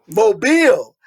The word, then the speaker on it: Mobile: Mobile, Alabama.